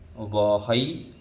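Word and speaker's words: वहै: ह के ऊपर दो मात्रा है इसलिए ऐ बोलेंगे, वहई, महई।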